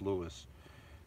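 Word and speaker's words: Lewes: from from Lewis Maryland it's it's spelled differently for my name it's pronounced Lewis from Lewis Maryland to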